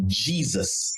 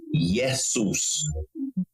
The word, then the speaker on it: Jesus: Therefore, the both J and I used to be the Y sound, as in the word yes. So in Greek, Eseus was pronounced Jesus. And then in Latin, Isus, and you will pronounce it as Jesus with a Y.